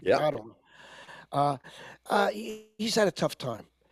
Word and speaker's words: Ottawa: Ottawa, is that the correct pronunciation? Yep. Ottawa.